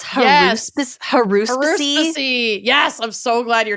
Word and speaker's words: haruspicy: It's spelled haruspicy, but it's haruspicy.